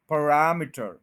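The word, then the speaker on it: parameter: पहले श्वा साउंड है PUH, फ, PUH, फ, फ। उसके बाद RAM पे स्ट्रेस है, रैम, फरैम। तो फ के ऊपर आप रुक नहीं सकते क्योंकि श्वा साउंड है, बहुत छोटा साउंड होता है, फ। उसके बाद रैम, फिर आई है और फिर टर, पैरामीटर, पैरामीटर, पैरामीटर, पैरामीटर।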